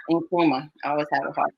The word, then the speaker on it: Nkrumah: Nkrumah.